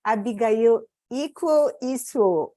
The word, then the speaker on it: Abigail Iquo Isuo: And I'm here with Abigail Iquo Isuo, right?